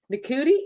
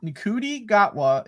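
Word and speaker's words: Ncuti Gatwa: the trailer how do you say his name nudi no okay I I really want to know okay uh niki niki gatwa is also from sex education oh that show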